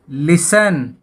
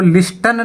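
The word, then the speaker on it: listen: तो सबसे पहले लिसन, लिसन, सुनना। इसको लिस्टन नहीं बोला जाता, लिसन बोला जाता है।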